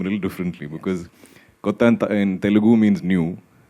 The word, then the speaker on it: Kotha: guys to tell them it is King of Kotha and not the usual Hindi pronunciation. So it's in the film Kotha, in Malayalam it's Kotha.